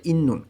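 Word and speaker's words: 있는: জিবে বাড়িতে, ইন্নুন এখানে উচ্চারণটা হবে ত ধ্বনির যত বাচ্ছিম আছে সেই বাচ্ছিমের পরে যদি নিয়ন আসে তখন এই ত ধ্বনির বাচ্ছিম ত উচ্চারণ না হয়ে নয়ের মতন উচ্চারণ হবে, তাই এইখানে উচ্চারণ হবে ইন্নুন অর্থ থাকা।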